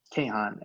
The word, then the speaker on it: Kahan: To give you an example, like in science communication, there's great research from Dan Kahn at Yale, Kahan, I think is how you pronounce it.